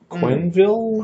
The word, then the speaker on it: Quenneville: I think his name rhymes with Smallville. Quenneville?